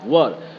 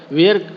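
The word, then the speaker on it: were: एम इसका जो auxiliary verb होता है, एम, इज, आर, वाज, वर। वेयर नहीं पढ़ेंगे बकरी बच्चा के वेयर, तो वर पढ़ा जाता है, वर बधु होता है ना, इसलिए शुद्ध प्रोनाउंसिएशन है वर।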